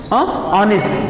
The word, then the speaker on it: honest: अब जैसे एक वर्ड मैं यहाँ पे लिखूं HONEST, ये क्या लिखा हुआ है? ऑनेस्ट। लेकिन पहले इसको क्या बोलते? हॉनेस्ट बोलते थे, मतलब कोई साइलेंट वगैरह नहीं रहता था।